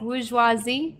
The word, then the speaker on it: bourgeoisie: Well, it's bourgeoisie.